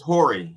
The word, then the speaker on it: Jory: Now, I don't know if Jory is Jory or Yori. I don't know how it's pronounced. It's Hori. It's Hori.